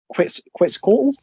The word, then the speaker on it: Quetzalcoatl: can read his line of when he feeds Quetzalcoatl. That's how you pronounce it, yeah?